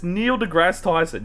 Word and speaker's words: Neil deGrasse Tyson: Yes, it's, and I couldn't care if you got anyone else's name wrong, but it's Neil deGrasse Tyson.